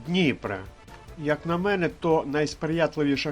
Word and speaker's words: Дніпра: найбільшої річки України Дніпра наголос на першому складі Дніпра як на мене то